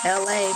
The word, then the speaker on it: LA: My name is LA, pronounced like LA, like the city.